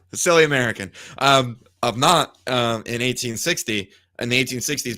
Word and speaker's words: Nantes: And they're all recorded in his home diocese of Nantes, if I'm saying that correctly. And they push for it in Nantes. Just don't pronounce the S. Silly American. Of Nantes in 1860.